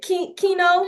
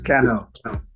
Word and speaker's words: Cano: Is it Kino from Baltimore? He's like, no, you did not pronounce my name right. You can go ahead and unmute. Yeah. It's Cano. Cano.